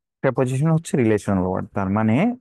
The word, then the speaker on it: preposition: হচ্ছে কিসের জন্য যেন প্রেপজিশনের জন্য ছোটবেলায় আমি এটারে প্রিপজিশন বলতাম এখন প্রেপজিশন বলি কারণ হচ্ছে প্রেপজিশন is more correct প্রোনাউন্সিয়েশন ওকে তো এখন প্রেপজিশন